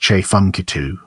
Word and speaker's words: Tchefuncte: the prehistoric CH culture period the name is pronounced CH funu it is located in the Southeast section of